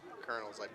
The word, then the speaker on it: colonel: Colonel Colonels. I always get messed up with that cuz it's spelled like Colonial. But Colonel loose ball.